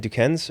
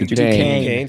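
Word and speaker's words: Duquesne: Aiden Vroom, which Aiden Vroom not being being an offensive lineman from how do you pronounce that school again? Dukens or something, right? Dukane, sorry. Dukane, but Vroom being your last name and not being like a running back, wide receiver.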